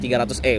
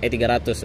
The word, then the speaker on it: 300E: sebut Mercy Boxer Terus kalau sulit bacanya tuh 300e bukan bukan E300 eh bukan etiga20 kalau yang